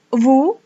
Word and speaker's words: vous: Kemudian ada vous, sama seperti nous, S tidak dibaca, jadi hanya vous.